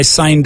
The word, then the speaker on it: sign: It's not sign. It's like S-A-I-N in Spanish.